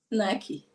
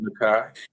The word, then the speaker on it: Naaki: remembered you saying either way, but how you pronounced your own name, you said Naaki. Naaki. Naaki. Nice. And you have let me call you Nakai, It's okay.